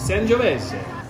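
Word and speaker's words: Sangiovese: San Giovese.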